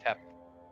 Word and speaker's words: Nyarlathotep: I really wish I could pronounce that. Nyarlathotep. Thank you.